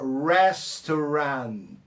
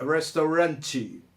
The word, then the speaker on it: restaurant: Não é restaurante, ok? Restaurant. A sílaba tônica está no res. E o T, a gente mata na hora da pronúncia, né? A gente trava ali a língua na hora que chega no T.